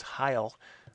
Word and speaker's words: hyle: He actually had a word that would sort of be the counter to the atom, and that word was hyle, which I believe is spelled H-Y-L-E.